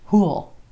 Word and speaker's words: who'll: will with question words so who will be comes Huell Huell rhymes with Poole Poole who will be there